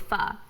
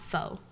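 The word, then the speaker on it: phở: It's not pho, it's pho. Explain that. Yes, Vietnamese noodles, it's called pho, not pho.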